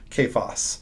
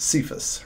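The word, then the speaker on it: Cephas: Kaaya um and so Paul here just translates Kaaya straight into Greek and calls him kayas and then we of course pronounce it sephus right because we pronounce c as an S no big deal he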